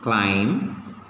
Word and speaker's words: climb: b if you take the letter b is silent in some of the words okay how can we